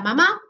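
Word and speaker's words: 妈: El primero, que tiene el número 1 porque es primer tono, significa mamá y se pronunciaría algo así como ma.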